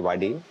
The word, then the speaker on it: vadai: So Malays call it vadi. So there's few people call it differently. Chinese call it vadai. So they literally pronounce vadai.